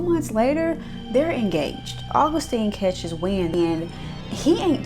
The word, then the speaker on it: Augustine: His name isn't Augustin, it's Augustine.